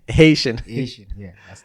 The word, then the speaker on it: Haitian: So do you think Asian wedding? I think I said that right. Haitian.